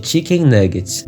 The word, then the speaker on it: Chikn Nuggit: Seu nome inspirado em frangos empanados, como conhecido aqui no Brasil, e em inglês com a mesma pronúncia de Chicken Nuggets.